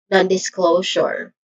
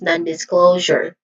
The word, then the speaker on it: non-disclosure: Pronunciation wise, I'll start with none which is short a vowel sound and then this this yeah this which is a short e sound and glow which has a tip thong sound o and it ends with your jour voiced sound here. So this is non-disclosure.